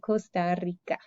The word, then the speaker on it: Costa Rica: costa rica costa rica pretty much we say the same as in english and spanish costa rica and espanol we roll that r we say costa rica we roll the r because there's it's at